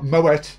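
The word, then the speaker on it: Moët: Moet is correct because he's Dutch. So you pronounce the T, and it's Chandon, which is French.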